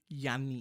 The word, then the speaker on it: Yanni: Yanni, yeah, it has less high frequencies. It's more bassy the way it's pronounced, and Yanni is higher in the register.